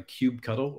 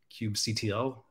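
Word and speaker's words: kubectl: you can use a cube cuddle or cube CTL this is a religious discussion on how to pronounce that but we also have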